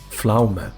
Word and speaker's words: Pflaume: Do you pronounce the E? Pflaume? Pflaume.